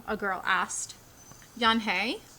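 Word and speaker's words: Unhei: no yan hey corrected it's spelled u n h e i it's pronounced yan hey uh oh yan hi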